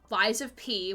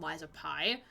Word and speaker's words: Lies of P: Alan Wake 2, Hi-Fi Rush, Lies of P, which I originally thought was called Lies of Pi, because it rhymes.